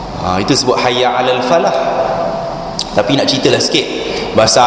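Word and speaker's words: فلاح: tak buat benda ni Hayya Alal Falah jangan baca Hayya Alal Fallah jangan disabdukan lam tu Hayya Alal Fallah ejaan dia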